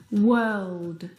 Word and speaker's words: world: The vowel sound is actually as in her. Work, world, word.